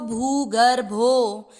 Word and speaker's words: भूगर्भो: यहाँ पर आप भू को नहीं खींचोगे तो आपको चरण का उच्चारण लगेगा कि कहीं हमारा छोटा हो रहा है चरण, क्योंकि मात्रा जैसे ही छोटी बड़ी हुई और उच्चारण रॉन्ग हो जाएगा।